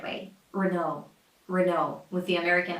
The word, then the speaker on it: Renault: Renault with the American R. Renault. Those final letters are supposed to be silent and the stress goes on the second syllable.